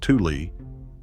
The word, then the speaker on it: tule: Tule fog, pronounced tule, takes its name from the tule grass wetlands, the tulares, that historically covered the valley floor before agricultural drainage cleared them.